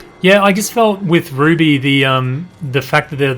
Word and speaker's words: RWBY: Oh, it's pronounced Ruby.